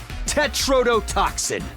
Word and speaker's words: tetrodotoxin: Tetrodotoxin.